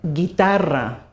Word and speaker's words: guitarra: As you can see, we have a U in the middle there, which isn't pronounced. Guerra, war. Ge, as in guerra. Gi, as in guitarra, guitar.